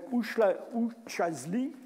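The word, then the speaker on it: Üçağızlı: On va trouver ça en Turquie, un site qui s'appelle Uçazli. Ça ne s'écrit pas vraiment comme ça, mais c'est comme ça que ça se prononce.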